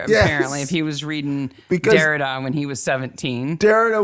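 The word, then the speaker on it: Derrida: okay okay there are two two ways to pronounce this name there is what the angelized world says which is Dara which is absolutely cool I've heard him introduced as Dara it's absolutely fine this is jacqu Dara famous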